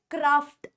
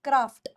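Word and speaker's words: craft: हम लोग क्राफ्ट बोलते तो इसको आप लोग कैसे प्रोनाउंस करोगे आप इसे प्रोनाउंस करोगे क्राफ्ट क्राफ्ट क्राफ नहीं क्राफ्ट दिस वर्ड अब याद एक और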